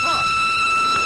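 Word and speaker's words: Froy: My name's Freud. You said Freud? No, Freud. Not even the Freud. I'm sorry, I can't hear. It rhymes with joy.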